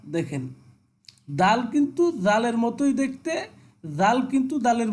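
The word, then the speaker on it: د: এরপরে দাল, দাল সামনের দুই দাঁতের মাড়ির সাথে আমরা কি করব, জিহ্বাকে লাগিয়ে উচ্চারণ করব দাল।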